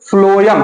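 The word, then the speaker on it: phloem: तो देखिए, फ्लोएम, फ्लोएम एक बार आप खुद से बोलिए, फ्लोएम। तो फ्लोएम में स्पेलिंग भले पी से शुरू है लेकिन लगता है यफ से शुरू है, फ्लोएम।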